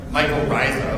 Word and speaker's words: mycorrhiza: Mycorrhiza, if I'm pronouncing it correctly. Mycorrhiza, okay.